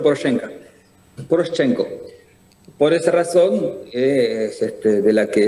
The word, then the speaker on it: Poroshenko: Poroshenko, lo conocen ustedes, pero se pronuncia Poroshenko.